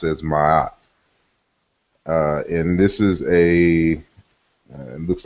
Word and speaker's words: Ma'at: Okay, so we know we should be familiar with the word which we in Egyptology speak pronounce as Ma'at.